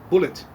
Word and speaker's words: Bulleit: it's easy as pie you just pronounce my name like you would the ammunition and there you have it so like the ammunition bullet that's out of the